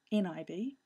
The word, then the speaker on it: nib: It used to be NIB, which is where we get the pronunciation nib from, obviously, but it's been changed in the later version of Xcode, but we can still call it a nib file.